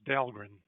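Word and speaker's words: Dahlgren: that the name of the town is Delrin I know it's not cool it's not announced the way it's spelled but it was named after famous Civil War Admiral John adult John aid ldren and that's the way his family said it so if you want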